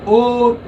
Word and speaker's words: o'er: Wind, slow, wind unstressed, slow stressed, lee o'er. Not over, you know. If it is over, then, well, you know, the pattern will be lost. So o single syllable, it becomes, if it is over, then it would have been double syllable.